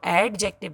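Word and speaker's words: adjective: डी इसमें silent होता है. हम इसको एडजेक्टिव नहीं बोलते, हम इसको एडजेक्टिव बोलते हैं.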